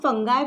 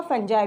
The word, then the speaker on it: fungi: आप फंगाई pronounce कर सकते हैं या फंजाई भी बोल सकते हैं ना।